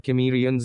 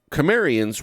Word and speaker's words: Cimmerians: It looks like the hard K sound is the right pronunciation to go.